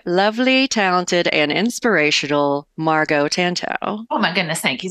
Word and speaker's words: Tantau: The title is Tantau rhymes with wow, because that's how I remind myself to say their name correctly.